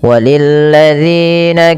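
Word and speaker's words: وَلِلَّذِينَ: Pada lafal walilladzina hati-hati dalam lafal dalilladzi ya. Ini kita harus hati-hati diulang-ulang terus bagaimana cara membacanya yaitu ujung lidahnya nempel dengan gigi atas ya.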